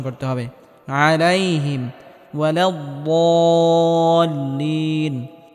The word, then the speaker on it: ولا الضالين: আলাইহিম ওয়ালাদ্দাল্লিন, এখানে বদটিকে মোটা করে উচ্চারণ করতে হবে এবং হালকা আওয়াজ জারি রেখে উচ্চারণ করতে হবে।